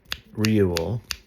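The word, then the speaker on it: Reuel: Now Jethro Rule, which is spelled R E U L.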